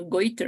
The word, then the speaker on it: goiter: to write it down is changing right now goiter is the pronunciation okay thanks okay any other question maybe